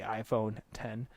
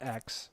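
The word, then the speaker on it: iPhone X: the iPhone 10 and that is the correct way of pronouncing the iPhone 10 not X Oh Lord it's basically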